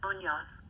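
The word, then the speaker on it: Muñoz: People are often confused by my middle name, Munoz. The N in Munoz, with the tilde over it, should be said as if it were an NY, sounding like this.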